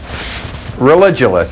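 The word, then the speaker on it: Religulous: name of your movie it's religionist it's like you're saying religion and then you go to ridiculous for obvious reason well speaking of which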